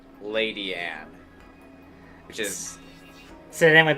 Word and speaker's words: Ledian: Tiny Gamer says there is actually an episode with Ledian in it, and he says that they pronounce it Lady Anne, which is...